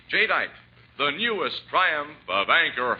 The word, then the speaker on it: jadeite: selling China wear and glass remember the name jite that's spelled j a d i t e j dite the newest Triumph of anchor Hawking the most